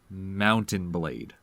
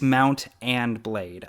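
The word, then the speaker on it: Mount & Blade: yes because the pronunciation is it mount and blade or mountain blade it's it's three three words okay yeah it's mount and blade I I realized that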